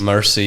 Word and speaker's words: Mersey: It's not we need to say it right. Mercy. You can see why you would say it would be Mercy.